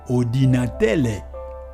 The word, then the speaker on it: ordinatele: Ainsi donc pour ordinateur, étant donné que dans la langue lingala, la lettre R n'existe pas, eh bien, moi je vous propose, au lieu plutôt que de dire ordinateur, ce qui serait difficile à prononcer pour les gens qui sont des lingalaphones, eh bien, ils diraient plutôt ordinatele.